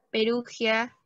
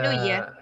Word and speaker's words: Perugia: Bolonia, Piamonte, Véneto, Asís, Perugia, Abruzos. Ahora, mejor pronúncialo Perugia, ¿ya? Creo que la... Perugia. Sí, ahí así lo pronuncia, Perugia.